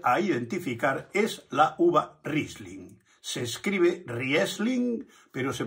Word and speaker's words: Riesling: y podemos aprender a identificar, es la uva Riesling. Se escribe Riesling, pero se pronuncia Riesling.